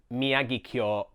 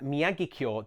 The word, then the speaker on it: Miyagikyo: Miyagikyo. This one really seems to baffle people. Don't put the stress on the gi. Also note that kyo is one syllable. It's not kyo.